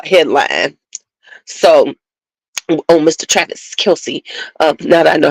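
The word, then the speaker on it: Kelce: Travis Kelsey, now that I know how to say it, Kelsey, because I was like, how the hell you say his name?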